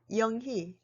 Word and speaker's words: 영희: When the vowel 의 is combined with the consonant h, 의 is also pronounced as 이. It usually happens in people's names. For example, 영희.